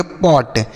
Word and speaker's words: pot: उसी तरीके से इसे पढ़ेंगे पॉट, POT पॉट।